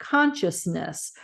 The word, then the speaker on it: consciousness: in light of Consciousness notice the three syllables there consciousness versus conscience in this prayer you